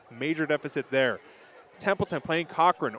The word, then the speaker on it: Corcoran: deficit there Templeton playing Cochrane or Corcoran depending on who you are and how much uh you want to really put an emphasis on the wrong syllable uh they Trail 14-7